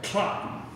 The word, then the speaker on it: Cloten: Unfortunately, there's another quasi-member of the royal family on hand, her stepbrother, Cotton. And that's the way it is pronounced. It rhymes with rotten.